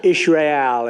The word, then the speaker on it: Israel: let's sit down let's talk about Israel or Israel as they say I love the pronunciation I love it but